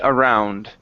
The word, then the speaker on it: around: Okay, make sure to pronounce the D at the end of the word. Okay, easy to carry around.